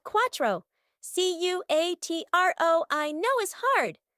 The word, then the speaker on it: cuatro: For the number 4 in Spanish is called cuatro.